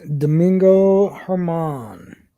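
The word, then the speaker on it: Domingo Germán: Yes, Domingo Herman. Wow, you actually pronounced his name right.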